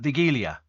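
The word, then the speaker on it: Wigilia: Estelle and uh Steve the Polish Christmas Eve meal is pronounced uh the gilia it traditionally consists of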